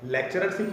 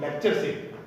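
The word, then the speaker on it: lectureship: लेक्चररशिप नहीं होता कभी, लेक्चरशिप। याद रखिए क्या होता है? लेक्चरशिप।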